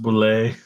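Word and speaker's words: Bulleit: It's pronounced boulet.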